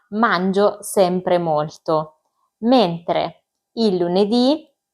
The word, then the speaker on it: lunedì: I giorni della settimana sono lunedì, martedì, mercoledì, giovedì, venerdì, sabato, domenica. I primi cinque hanno l'accento sulla i finale, sono tutti maschili, tranne la domenica e si scrivono tutti con la lettera minuscola.